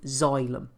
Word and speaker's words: xylem: So the first one of these is a tissue called xylem, and it's spelled Xylem.